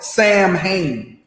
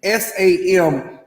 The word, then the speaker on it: Samhain: festival called sam it's spelled samhain s-a-m-h-a-i-n you really want to know what's going on on halloween and why america celebrates halloween this is why it's from an ancient celtic festival called samhain or south wayne now